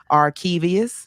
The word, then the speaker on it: Arkevious: You Arkevious, you said it right the first Arkevious, time. Arkevious.